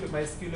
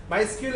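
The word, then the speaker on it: MySQL: আমরা এটা মাই স্কিউল মাই স্কিউএল এ দেখবো মাই এস কিউএল এটা আবার উচ্চারণ অনেকে মাই সিকিউএল এও বলে মাই স্কিউ বলতে বলতে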